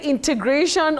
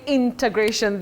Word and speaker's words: integration: Betty, that word does not have an R after E. It is in, not in. Oh, integration from integrate. Many people innocently use an R in that word but that R does not exist. We have the word to integrate. Integrate not integrate. And we have integration not integration that we commonly hear around us.